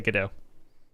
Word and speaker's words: Godot: A lot of people pronounce it differently, but I say GDAU.